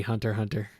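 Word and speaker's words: Hunter x Hunter: I suppose apparently the X is silent, so it is just supposed to be Hunter Hunter like spy family.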